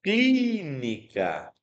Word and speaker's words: clínica: Clínica, qual é a sílaba mais forte? É a antepenúltima, né? Se a antepenúltima, ela é uma proparoxítona.